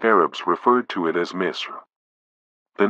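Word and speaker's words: مصر: The ancient Arabs referred to it as Misr. The name Misr continues to be used by contemporary Egyptians to refer to their country until the present day, pronounced as Masr in the Egyptian Arabic dialect.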